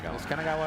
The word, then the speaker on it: Kanagawa: old from uh Kanagawa Kanagawa I don't know Kanagawa right right that correct I said it right